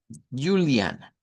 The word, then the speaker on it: Juliana: Entonces, tenemos, por ejemplo, acá esos nombres como Juliana. Juliana. En español nosotros decimos Juliana y le decimos ju.